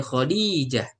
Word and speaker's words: خديجة: Khadijah panjang di intonasi ya-nya. Khadijah. Ya, kata. Kalau kita kan Khadijah. Nah, ini Khadijah.